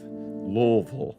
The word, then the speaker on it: Louisville: Louisville, that's right, that's how you say it.